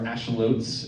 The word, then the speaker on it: axolotl: What was Bill and the axolotls, or axolots, if you want to pronounce it correctly?